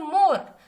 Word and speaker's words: more: फिर आगे हमारे पास है मोर, हम पढ़ रहे हैं मोर, MORE लिखा हुआ है, पर हम जो इसको प्रोनाउंस कर रहे थे हम इसको पढ़ रहे हैं मोर, तो मतलब यहाँ पे ई जो है वो क्या है, साइलेंट है, ठीक है।